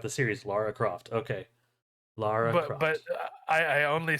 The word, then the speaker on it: Lara Croft: glad this exists uh Laura Croft legend or the Tomb Raider legend of Laura Croft Sam not not you two what it's Lara Lara Croft oh see that's how